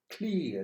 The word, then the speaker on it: clear: I say clear. I don't pronounce the final R. You are not supposed to do so. If you want a British accent, you have just to say clear.